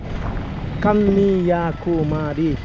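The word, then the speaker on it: Kanniyakumari: সেটা আজকে পূরণ হলো কান্নিয়া কুমারী উচ্চারণ কে এন এন I Kanni Y এ কান্নিয়া কে ইউ এম এ আর আই কুমারী কান্নিয়া কুমারী তো আজকেই বিবেকানন্দর যে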